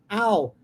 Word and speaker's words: I'll: Pronúncia disso. I'll. Como se fosse um cachorro.